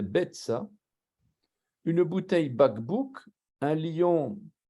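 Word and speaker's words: ביצה: On ne prononce pas le yod ici, c'est Betsa.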